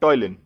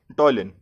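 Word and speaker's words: ptyalin: सो the enzyme which is produced by the salivary glands is known as salivary amylase और टॉयलिन. P is silent here, so we'll pronounce it like टॉयलिन.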